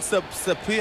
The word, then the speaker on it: Sapia: Grant Wood, Blaine Sapia, how you pronounce his name?